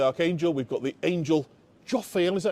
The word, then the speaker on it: Jophiel: We've got the angel Jophiel, is that how you pronounce it?